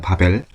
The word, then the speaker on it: Babbel: 아이폰하고, 그러니까 iOS하고 안드로이드는 확실히 있는 걸 확인을 했는데, 바벨 그거 한번 확인을 해보시고, BABBEL이에요. 바벨이에요, 벨. 조금 그냥 굳이 발음을 하자면 B가 두 개니까 바벨, BABBEL 한번 확인을 해서 활용을 해보시면 좀 더 좋을 것 같습니다.